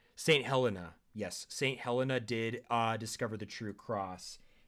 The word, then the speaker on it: Helena: I just want to make sure we're pronouncing Saint Helen's name. Saint Helena, yes.